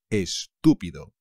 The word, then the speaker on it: estúpido: great estupendo estúpido estúpido cuidado con el acento chaval es estúpido este es visto pues